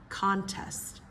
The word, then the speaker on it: contest: Nouns typically first syllable, verbs second syllable, okay? Again, we've done this one before. Address. Address versus address. Address versus address. Conflict. Conflict versus conflict. Conflict. Conflict. 3. Contest.